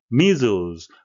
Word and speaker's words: measles: Measles, 발음에 유의하셔야 되겠는데요. S는 둘 다 Z 발음이 되겠습니다.